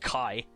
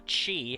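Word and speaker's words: χ: No, not just any ordinary Keyblade, a Keyblade, which is actually pronounced Kai, or Chi.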